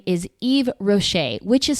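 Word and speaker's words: Yves Rocher: And that name is Eve Rocher, which is spelled Y V E S space R O C H E R.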